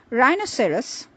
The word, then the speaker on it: rhinoceros: The silent H is to be found in words like rhyme, rhythm, rhetoric, rhododendron, rheumatism, rhinoceros, and rhodium.